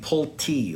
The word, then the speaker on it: Pulte: with your cancer surgery you pronounce my name pull T like you're pulling a t out of the ground that's how my grandfather